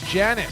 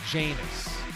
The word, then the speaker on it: Janus: Hugh Janis. Oh, okay. Sheldon Sparks. Oh. Oh, you just got it on the second read? Hugh. Well, I'm mispronouncing it. It's last name Janus. Hugh Janus.